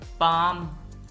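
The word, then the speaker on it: palm: पाम, ये लफ्ज पाम है, इसमें और काम में एल साइलेंट है, पाम।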